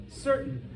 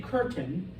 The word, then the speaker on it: certain: it but in English the letter c is soft before an ear an eye and what do we mean by a soft C it sounds like an s foreign this is an English word what is it certain certain you guys don't say curtain all right it's certain all right it's the